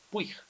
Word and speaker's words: Puig: Agustín además Push pu puig es un médico eh que da charlas por todo el mundo de motivación Push es O puig sí se escribe p pero Push bueno estuvo acá en